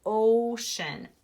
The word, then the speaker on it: ocean: writers to use and ocean Oh shhh what diagraph do we hear sounds like sh-shh ocean oh I hear an again